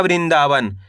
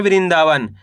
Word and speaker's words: वृंदावन: तो किस तरीके से इसका उच्चारण करेंगे? वृण द में आ की मात्रा दा व न तो मिलके बन जाएगा वृंदावन। कैसे पढ़ेंगे? वृंदावन।